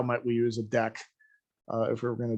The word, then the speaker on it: Deque: was to see how might we use a deck if we were going to do that. There is an interface called Deque. It is not a class, just like we saw before. And again, you could say deck my deck equals new linked list, and that